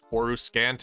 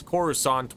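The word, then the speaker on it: Coruscant: take them some time I know I've made fun of the way they pronounce quorus scant in this game but that's understandable because corusant was never spoken aloud in the original trilogy however this game definitely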